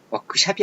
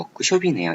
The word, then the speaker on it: 워크숍: 워크샵이 아니고 워크숍이네요. 예. 숍으로 발음돼야 돼요.